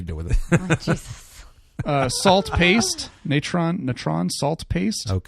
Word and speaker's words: natron: Natron natron salt paste. It's pronounced natron.